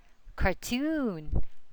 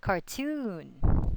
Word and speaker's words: cartoon: So the suffix OON always has the accent on it. So that's going to be balloon, balloon, cartoon, cartoon.